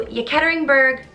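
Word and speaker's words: Yekaterinburg: g the bolshevik party sends the romanoffs to yeketeringberg russia it is a thousand miles from moscow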